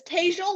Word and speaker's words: Tejal: It's Tejal like hazel.